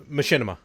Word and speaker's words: Machinima: Machinima.